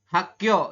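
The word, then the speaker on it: 학교: Ini dibacanya adalah Hakyo ya.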